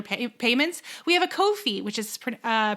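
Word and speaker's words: Ko-fi: payments we have a kofi which is pr uh pronounced like no fee but it's spelled ko hyphen fi so here are the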